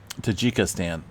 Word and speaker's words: Tajikistan: takika Stan tajika stand I believe it's uh Tajikistan so 6.8 earthquake coming in earlier this afternoon